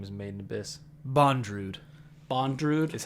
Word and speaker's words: Bondrewd: this guy's name is made in abyss bondrewd bondrewd is how you pronounce it dude i up